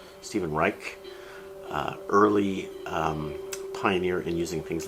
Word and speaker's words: Reich: How do you pronounce his name? Stephen Reich.